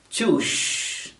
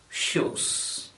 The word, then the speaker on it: shoes: And the transliteration will make anyone who doesn't know English to pronounce the word as choosh or at least sush instead of shoes.